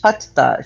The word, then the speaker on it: Hatha: It's spelled Hatha, but it's pronounced Hatha.